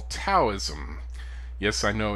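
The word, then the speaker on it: Daoism: is what we call taoism yes i know it's spelled with a d i don't speak chinese but for some reason we pronounce that d like a t so we call it taoism um the philosophy of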